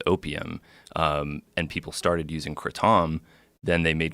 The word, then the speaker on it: kratom: they made Crotona leaves not the right way to say it because people say kratom yeah you're the only one I've heard sacred Tom people in it's a Thai word people in Thailand call it critic so people in the u.s.